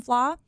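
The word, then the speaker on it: Fleadh: is oh yes the flaw is the the film festival but it's spelled like fleed f-l-e-a-d-h very it doesn't make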